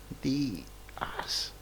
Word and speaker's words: Díaz: Díaz. Lleva acento en la I, ¿no? Díaz.